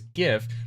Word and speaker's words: GIF: However, many people pronounce it with the hard G as GIF. Both pronunciations are widely accepted, although the creator's preference for this is for the soft G.